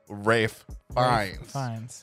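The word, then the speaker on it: Ralph Fiennes: Ray fines which we just found out is pronounced Rafe Vines yes and I made Cody say it because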